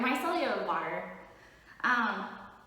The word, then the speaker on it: micellar: Oh my god, I said it right. Micellar water. Micellar water. So there's not a U on it.